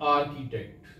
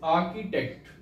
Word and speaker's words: architect: challenge part 4 the first for today is architect this word is not architect Ure pronunciation is architect of this world second word is breakfast we